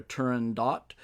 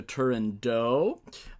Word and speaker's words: Turandot: And what I have to say about that is that I have decided to pronounce the name of this opera Turandot as opposed to Turandot.